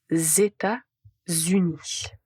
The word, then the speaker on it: États-Unis: Donc aux États-Unis, vous avez de Z aux États-Unis ou bien je viens des États-Unis. Je viens des États-Unis. Donc concernant cette prononciation et retenez que vous devez prononcer de Z.